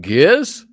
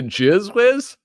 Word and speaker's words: Gizwiz: theater wait it was it's pronounced giz it's not the jiz whiz yes I was a